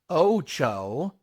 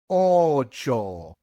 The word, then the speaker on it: ocho: You must pronounce just one vowel sound when you pronounce the O's in ocho. It is not ocho. It is ocho.